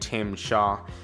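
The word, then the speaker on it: Tzim-Sha: we have Tim I I couldn't pronounce I had to like literally Google how to say his name but you say it Tim Shaw he's basically one of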